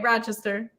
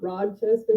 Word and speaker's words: Rochester: You said it right, Rochester. I put a D in it. Okay. All right, that's right. Okay. That's that country accent. Does it have a D in it or no? No.